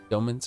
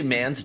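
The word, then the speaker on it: Doman: Domens, okay. I wouldn't say mans, domens. Domens. Like men rather than man.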